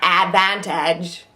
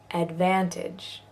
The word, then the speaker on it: advantage: advantage here's one where because we're emphasizing the van the add part doesn't get its not advantage you know advantage photograph photograph good that's